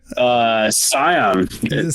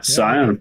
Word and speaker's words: Scion: How do you say that? Scion. He is probably silent, I would think. Yeah. Scion.